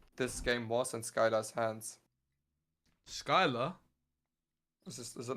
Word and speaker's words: Schuyler: It's pronounced Skylar? Wait, is it? Oh! Wait, really? So I'm correct. Wait, that's crazy. Is it really? Maybe that's why he named himself Sky, because Shyla is pronounced Skylar.